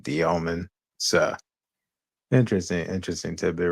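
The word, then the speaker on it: Demin: it was like Igor Demon's name. yeah, American shit. But I get it. Yeah. But he's Russian, so his last name's pronounced like Dioman.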